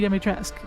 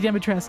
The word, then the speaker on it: Dimitrescu: My Steam profile is Lady Dimitrescu. Lady Dimitrescu. Mission failed. Return to base. The fact that I know how to pronounce her name should be sentiment enough about how much I simp for that woman.